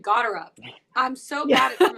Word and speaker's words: Gotterup: So I like Chris Gotterup. You said it right. Amazing name. But 50-1 is interesting. That Gotterup.